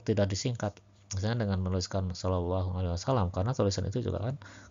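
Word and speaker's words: صلى الله عليه وسلم: Toh teks sallallahu alaihi wasallam yang latin itu kalau dibaca oleh orang yang tidak tahu hijaiyah kan macam-macam bacanya ya. Bukan enggak enggak pasti sallallahu alaihi wasallam. Mungkin ada yang bacanya sehallalahu gitu ya.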